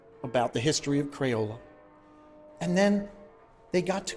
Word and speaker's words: Crayola: He used to pronounce Crayola as Cranola and I let him know that we were going to do a full rebrand.